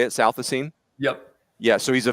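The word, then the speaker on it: Southisene: And correct me if I mispronounce the name, Shooter, but Ty Southasine. Is that how you say it? Southasine?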